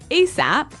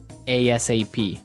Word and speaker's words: ASAP: So it's an acronym, and you can say it like ASAP or ASAP.